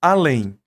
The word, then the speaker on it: além: Então, além é mais forte a ou é mais forte lém?